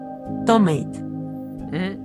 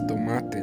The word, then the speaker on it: tomate: Tomate. This is tomate, not tomate.